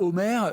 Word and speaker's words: Homair: Alors, Omer est une entreprise française, je le disais, depuis 35 ans. Ce nom, pourquoi ça s'écrit H-O-M-A-I-R, hein, mais ça fait penser à l'Iliade et l'Odyssée.